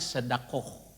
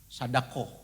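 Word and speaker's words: صدقة: Orang Arabnya sedakoh. Sadakoh gitu ya. Sedekah nulisnya tapi bacanya sedakoh.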